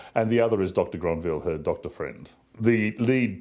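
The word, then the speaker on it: Grenvil: Well, actually, we've decided on the pronunciation being Dr Granvil because the conductor's French.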